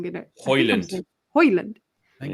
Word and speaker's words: Højlund: Højlund. I think it's Højlund. I believe it's Højlund. The J and be like Hodgland. Yeah, I definitely think it's a silent J. I don't think it's Hodgland. Højlund.